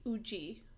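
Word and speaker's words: Woozi: Yeah, apparently it's UI Uji like in Korean.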